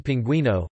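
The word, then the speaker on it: pingüino: The letter U, with diaresis, is used in this context to indicate that the U is not silent, e.g. pinguino, pinguino.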